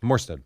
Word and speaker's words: Morstead: Did I say his name right? Yeah, Morstead.